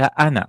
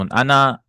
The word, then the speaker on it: أنا: وَلَيْسَ مِنْ كَذَلِكَ أَنَا لِأَنَّهُ ضَمِيرٌ وَلَيْسَ اسم. أنا, this alif is not pronounced actually.